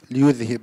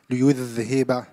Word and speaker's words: ليذهب: Also, just small remark in ليذهب حرف الذال. Try to pronunciate it clearly. ليذهب and واذكروا حرف الذال.